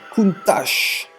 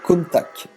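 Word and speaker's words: Countach: Alors, Big Matt qui se fout de ma gueule, qui dit sacrilège, on dit Kuntash. Sinon, comme d'hab, moi j'ai toujours dit Contact.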